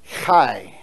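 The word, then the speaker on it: חי: Israel it means life it's Kai it's how you pronounce it so you put the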